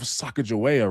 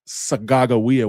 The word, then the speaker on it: Sacagawea: Well, you probably heard of Sacagawea, right? Actually, her name is pronounced Sagagawea, which is my language, which means bird woman.